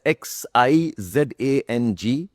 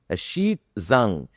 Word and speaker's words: Xizang: यू spell it as XIZANG. You pronounce it as XIPSANG. Xizang.